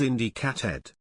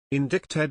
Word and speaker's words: indicted: grammatical mistakes is irony I thought it was Indie cat head these people never watched Law and Order indicted it is it's only the Army raikans who pronounce it the other way then what the hell is that c doing in there just like the b in subtle the language is crazy